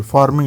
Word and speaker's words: pharming: जैसे पी है पी को आपने यहां पे प्रोनाउंस करना है एफ के तौर पे फार्मिंग अटैक।